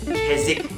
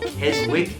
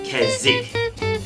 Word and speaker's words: Keswick: spelled, but apparently pronounced Keswick. I don't know where the W disappears to, but anyway.